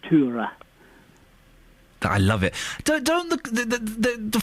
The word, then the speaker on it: Tora: Her name, we would normally call her Tora Berger. Yes. But they would pronounce it Tura.